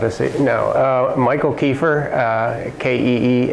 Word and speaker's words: Keefer: if you could just state your name and spell it for us geez that's not a no uh Michael kefir uh ke f r great and if you